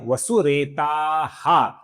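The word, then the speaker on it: वसुरेताः: तीर्थ करा का जो विसर्ग है इसके आगे वसुरेता का व आने के पश्चात इसका ओ हुआ है। आगे नाम है वसुरेताहा।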